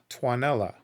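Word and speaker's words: Tuonela: of and then this it was spelled t-u-o-n-e-l-a and that was like okay how do I pronounce that and I'm sure they're going to pronounce it fine so then I just grab that plugged it into Google and it's twanella so that I could pronounce that properly um which is I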